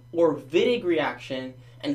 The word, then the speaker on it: Wittig: Alright, so the Wittig, first of all, you pronounce it also Wittig because it's like German, so I say Wittig, but if someone says Wittig, don't freak out, okay?